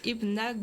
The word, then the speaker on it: Hypnagogia: Mon nom est dérivé du nom du jeu Hypnagogia et tu le prononces Hypnagogia.